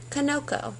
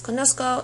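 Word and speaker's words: conozco: yo form would be Koko and you don't want Koko because konos we want to keep that Soft C Sound okay so they put the Z in there that's why it's Kosco and why I call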